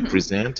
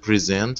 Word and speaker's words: present: never thought about it because present is a noun we say present and verb no present as a noun and present as a verb and i do it